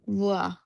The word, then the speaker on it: voir: Je vo- je vaux না না, নট ভো, voir. এই ভার্বটা দেখেন ওয়া, ওয়া, ও এবং ই সবসময় ওয়া সাউন্ড হবে, হ্যাঁ, ওয়া।